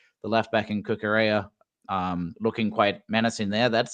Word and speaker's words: Cucurella: And especially with the likes of Mark Cucurella, there we go, getting my pronunciation, my Spanish right in there.